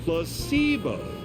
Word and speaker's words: placebo: Placebo. The stress is on the middle syllable.